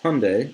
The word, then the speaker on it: Hyundai: They thought the Hyundai Elantra was just beautiful. I don't know. Let's look at it. So I have my phone here. So Hyundai, I keep saying it wrong. Hyundai, like Sunday, Elantra.